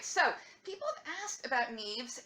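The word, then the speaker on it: Niamh: name her name is Nev and EA ve it rhymes with Steve and leave and leave it is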